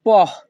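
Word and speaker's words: po': এখানে থাকো রেস্তাকুইপের উন পহ এখানে পি ও এর উচ্চারণ হবে পহ ইতালিয়ান ভাষা রেস্তাকুইপের উন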